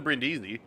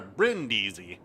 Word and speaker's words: Brindisi: I've played, even the Brindisi, like I love the Brindisi, or Brindisi. Forgot I was putting the wrong emphasis on the wrong syllable with it.